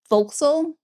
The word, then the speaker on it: forecastle: the way that they are supposed to be pronounced. Vxal instead of this word.